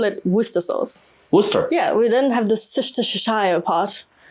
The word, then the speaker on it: Worcester: Worcester?